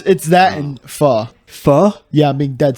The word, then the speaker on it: pho: It's not called faux. It's not faux king.